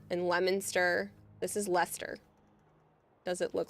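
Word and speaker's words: Leicester: Again, Lester, even though that doesn't look like it. And Lemonster. This is Lester.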